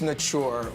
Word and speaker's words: Nature: It reads like Nature Waikiki. It's pronounced Nature. Well, why is that? What's the meaning behind that? It's for the actual like French pronunciation, so that's like the official way.